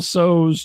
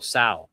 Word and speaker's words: Tso: General Tso's chicken. General Tso. Got it correct. Okay. Tso. Well, anyway, hot chicken. The S is silent. Spicy chicken. It's T. It's spelled. There's a T in there.